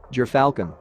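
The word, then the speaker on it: gyrfalcon: gerfalcon the gerfalcon pronounced ger falcon is a large white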